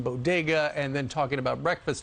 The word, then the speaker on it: bodega: someone wrote that because she didn't know how to pronounce bodega she said bogadas but yeah she should